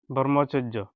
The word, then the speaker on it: ব্রহ্মচর্য: ম সংযুক্ত ব্রহ্ম চরে ব্রহ্মচর্য এই জৈর্ঘ্য একে উচ্চারণ হবে বন্ধুরা ব্রহ্মচর্য তাহলে কি কি শিখলাম আমরা ব্রহ্মপুত্র ব্রাহ্মণবাড়িয়া ব্রহ্মচর্য